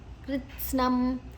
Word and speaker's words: ಕೃತ್ಸ್ನಂ: ಕ ಗ ಗಂಗದ ಅರ್ಧಂ ಕ ಮತ್ತೆ ರ ತ ಸ್ನ ಮೂರು ಅಕ್ಷರ ಇದೆ ಕೃತ್ಸ್ನಂ ಅವಶಂ ಶ ಅದ ನಂತರ